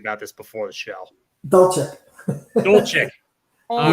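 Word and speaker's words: Dulcich: Dolchik.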